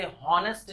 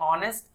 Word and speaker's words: honest: इसे हॉनेस्ट नहीं प्रोनाउंस करते, इसे प्रोनाउंस करते ऑनेस्ट। इसमें H साइलेंट रहता है।